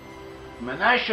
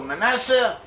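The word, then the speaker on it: מנשה: Manasseh or Manasseh, in Hebrew, modern Hebrew, it is pronounced as Manasseh. In ancient Hebrew, the northern tribe is probably pronounced it as we do in the English-speaking world as Manasseh, whereas the southern tribes around Judah probably pronounced it as they do in modern Hebrew as Manasseh, a shin instead of a sin.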